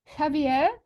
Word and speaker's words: Javier: His real name is Franklin Javier.